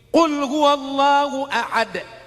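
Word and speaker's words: قل هو الله أحد: Qul huwallahu ahad. Pakai qf. Qul huallahu ahad. Katakan Allah itu esa. Tapi kalau tidak betul hurufnya dibacanya pakai kaf. Qul huwallahu ahad.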